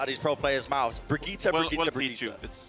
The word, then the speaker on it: Brigitte: I've seen a lot of these pro players mispronouncing Brigitte. It's Brigitte. Brigitte. Not Brigitte, not Bridget. You almost got it.